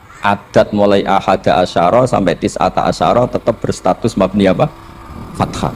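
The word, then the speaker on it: تسعة عشر: tisata asyaro utawi 19 tetap bacanya bukan tisatu asyarin tapi tisata asar jadi kita tahu secara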